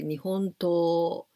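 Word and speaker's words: 日本刀: For example, you can say nihon to, this Japanese sword, nihon to, but to is long sound, not nihon to, nihon to, like this. So here, shuto, shuto, please be careful with this pronunciation.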